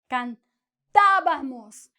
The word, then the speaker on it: cantábamos: No decimos nosotros cantábamos o cantábamos. Nosotros cantábamos. Esta sílaba de ta es high, alta. ¿Por qué? Tiene acento, ¿sí? Es la sílaba tónica. Tiene acento. El tono goes up.